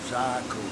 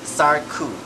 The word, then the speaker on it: Sarku: we have Z yes got to get the pronunciation right zaku saru zaku right a it's a it's